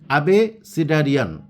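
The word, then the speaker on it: abecedarian: এই যে উচ্চারণ অ্যাবিসিডারিয়ান অথবা কেউ কেউ বলে অ্যাবেসিডারিয়ান, অ্যাকচুয়ালি অ্যাবিসিডারিয়ান। এটার মানেটা কি, কীভাবে ধরবো, এটার অর্থ কিভাবে আমি মুখস্থ ছাড়া মনে রাখবো?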